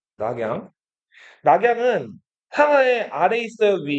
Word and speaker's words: 낙양: 뤄양은 중국 사람들이 읽는 거고 낙양. 그죠? 뤄양이라고 해도 맞죠? 낙양.